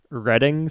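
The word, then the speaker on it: Reading: to like access rain redding someone was saying is pronounced i believe like the railroad and monopoly i think so yeah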